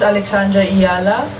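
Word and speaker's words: Alexandra Eala: So si Alex Ayala po, ito, paano na pakinggan natin kung paano niya binibigkas ng kanyang apelyido. My name is Alexandra Ayala.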